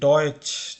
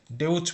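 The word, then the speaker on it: Deutsch: আগে আমি বলেছি ডয়েচ, ডয়েচ বানানোর ক্ষেত্রে আমরা যদি দেখি, ডয়েচ বানানো হচ্ছে কিন্তু ডি ই ইউ টি সি এইচ, এটাকে আমরা ডেউচ পড়ছি, ডেউচ পড়ছি না।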